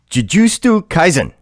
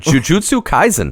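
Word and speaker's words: Jujutsu Kaisen: this one try it i can juju stu kaizen very close oh yeah very close that was good jujutsu kaizen oh see the s became before the t and the d in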